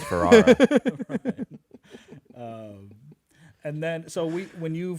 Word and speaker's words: Ferrera: I'm Ferrera, spelled Ferrara. And pronounced Ferrara.